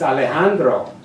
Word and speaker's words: Alejandro: to my cheeks and I say my name the right way it's Alejandro it's all eyes turned